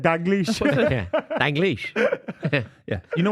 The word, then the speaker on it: Dalglish: No, it's not an N. It's an L. Dalglish. That's what I said. Dalglish. Danglish. It's an L. Why are you like? Yeah. That's what I said. Dalglish.